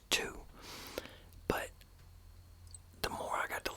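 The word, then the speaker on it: Tous: that is it's t-o-u-s now I thought it was French so at first I was pronouncing it as Deuce then somebody commented it and said it was actually pronounced two the more I got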